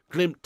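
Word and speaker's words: Glimt: Martin nice one lad glimp is pronounced glim thanks for sharing oh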